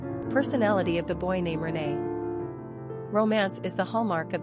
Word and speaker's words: René: We often hear about how the masculine René is pronounced just like the feminine Renée, and is therefore often mistaken as a girl's name.